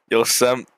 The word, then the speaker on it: Yosemite: Yosemite.